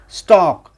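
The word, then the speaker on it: stalk: स्टॉक, STAL के, स्टॉक। एल और के जब भी एक साथ आता है तो एल साइलेंस होता है, स्टॉक, स्टॉक, एल साइलेंस होता है।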